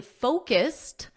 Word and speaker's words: focused: Today we focused. Focused with a soft T, We focused.